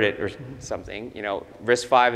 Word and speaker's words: RISC-V: there's something you know risk 5 is spelled as risk fee right so when Chris